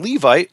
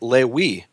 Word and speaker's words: Levi: today, he'll pronounce it Lewi. But if you ask pretty much any other Jew in the world, whether he's from Morocco or Algeria or Ashkenazic Jew, they'll all say it's Levi with a V.